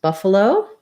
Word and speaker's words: buffalo: Buffalo, first syllable stress, buff has the schwa, and then this letter A says and then my O says an actual O, so sounds like buff, buffalo.